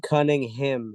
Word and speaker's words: Cunningham: in the Eastern Conference Kade cunning him is actually the correct pronunciation of his name uh and Kate has